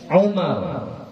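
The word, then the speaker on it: عمر: Kalau pakai waw dibaca Amr, ya, Amrin, Amrun, Amran, ya. Kalau nggak pakai waw dibaca Umar, Umaru, Umara, ya.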